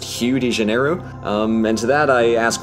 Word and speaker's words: Rio de Janeiro: make very little sense apparently Rio de Janeiro is supposed to be pronounced hugh de janeiro and to that i